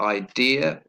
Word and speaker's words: idea: sound again we've got idea stress on the second syllable and we got another